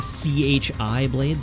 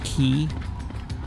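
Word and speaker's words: χ-blade: there's like the the c-h-i blade the chi blade except that it's not pronounced chi it's ki because it's like the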